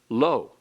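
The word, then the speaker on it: לא: The negative is spelled differently. It is spelled with an aleph. It's pronounced the same, lo, but it has totally different usage and meaning.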